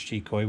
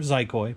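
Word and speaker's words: Xicoy: And yes, it is pronounced Chikoi. We discuss this all the time. I do prefer Zikoi, but it is Chikoi.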